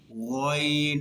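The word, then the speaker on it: غين: ঠিক গয়নটা বলার সময় ওই গাইনটাও এখান থেকে উচ্চারিত হবে, তবে এখানে হালকা ঘর্ষণ খাবে। যেমন গয়ন, মুখ কিন্তু গুলো হবে না, গয়ন, গয়ন, এরকম হবে না।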